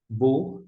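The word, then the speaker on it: בוא: O terceiro verbo a gente pronuncia, aqui nós temos o bet, que é o equivalente ao B, e o vav rolen. Vav rolen é a nossa vogal O, e o Aleph é mudo, não tem som. Desta forma, bo, bor, bo, melhor dizendo, entrar.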